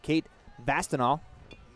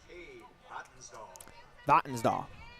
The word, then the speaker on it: Vattensdahl: That'll bring up Kate Vastinal. Now batting for the Scarlets, second baseman number 3, Cade Vattensdahl. My apologies. You put the accent on the wrong syllable.